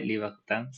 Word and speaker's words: Libertins: Ujú, Libertins se lee, Libertans se pronuncia.